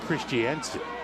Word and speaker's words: Christensen: Looks like Christensen. Yes, it does. It's pronounced Christiansen, who had educated earlier today.